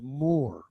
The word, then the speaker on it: Muir: the name of John Muir but actually in Scotland is pronounced more and the combination th